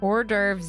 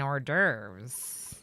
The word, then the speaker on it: hors d'oeuvres: Hors d'oeuvres Adrian. Okay, that's actually really good. Is that how you spell it? Hors d'oeuvres? Although you don't pronounce the H in hors d'oeuvres.